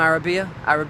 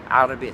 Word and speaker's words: عربية: It's a bit of a shame when people kind of can speak really good Arabic, but they say تتكلم عربية, and it's like no. It's عربية تتكلم عربية.